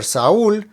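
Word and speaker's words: Saúl: Saul David E Salomon for Saul not that there's an accent over the letter U so that's where the stress is sa sa now unless there's an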